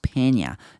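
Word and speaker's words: Peña: 그래서 it's 페니아 발음이 페나가 아니라 페냐라고 이제 그 고쳐주고 있죠. 그래서 이렇게 발음하는 거 같아서 그래요. 라자니아 이렇게 라자니아처럼 이렇게 말하면 돼요.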